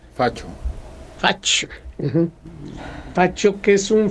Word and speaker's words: fascio: Es que en italiano, fascio, se escribe SC. Facho.